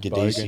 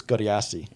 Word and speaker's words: Godeassi: I just realised I've been saying your last name wrong. Honestly, 10 I years. say it the very Aussie Godeassi. bogan way. Yeah. How do you say it traditionally? I believe it's Godeassi.